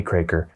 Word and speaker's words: Kroeker: o e k r so that's partly why I started that YouTube channel was just to teach people how to pronounce my last name it's uh it's difficult to spell uh it's crer it's Channel but